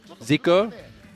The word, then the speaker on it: Ziko: Zik, is it Ziko or Ziku? Ziko.